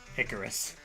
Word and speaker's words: Icarus: it icarus is pronounced icarus with the first syllable rhyming with pick the name comes from